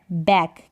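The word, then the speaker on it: back: last में अगर सी के आएगा तो के साइलेंट रहेगा, जैसे यहाँ पर है बैक, क्या है, बैक और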